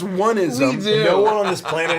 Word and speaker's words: onism: uh where I know we laugh about onism a lot we do it's actually pronounced oneism no one on this